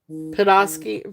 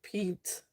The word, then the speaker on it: Petoskey: Podolsky.